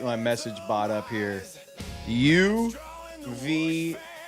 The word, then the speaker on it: UVU: Two words, yo, u v yo ou. Not not the letters. You have to spell it out, you numb skulls. Yo, u v yo u. There you go. Now you got it. U vu. It's you versus you, baby.